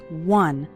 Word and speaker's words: one: minutes a day finishing one short activity the word word one starts with the w sound okay some students pronounce it like on but that's not correct it's one one short activity and the